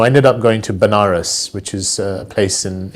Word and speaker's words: Banaras: So I ended up going to Banaras, which is a place in in India, sometimes pronounced as Vanaras, which is a place